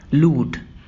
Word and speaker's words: lewd: तो आइए सबसे पहले हम सीखते हैं इस वर्ड को प्रोनाउंस कैसे करना है। तो हम बोलेंगे लूट।